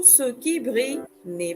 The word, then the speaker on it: brille: Brille, brille. Double L in French is not always pronounced le, L. So, in this case, we have it being pronounced more like the letter Y, y, y.